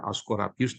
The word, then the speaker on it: Asclepius: Jadi mitos Yunani dulu Asclepius, ya, Asclepius dibacanya, orang pertama yang mengobati penyakit.